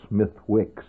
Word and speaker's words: Smithwick's: But what you generally see in the pubs, of course, you find Guinness Stout being drunk, Smithwick's, actually spelled Smithwick's, but pronounced Smithwick's, which is a very, I think, an evil drink.